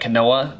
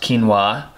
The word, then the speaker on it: quinoa: I know it looks like quinoa, but it's actually pronounced quinoa.